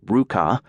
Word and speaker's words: RVCA: Looking for a fresh start on his own terms and timing, Hayes co-founded RVCA, pronounced Ruka, lifestyle apparel in 2001.